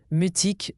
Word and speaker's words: mutique: Mutique se prononce mutique.